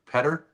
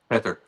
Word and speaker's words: Peter: So I always referred to you as Peter, but it's really Petter. Is Petter. how I should be pronounced. Yeah, it's better. Petter.